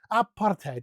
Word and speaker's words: apartheid: Apartheid.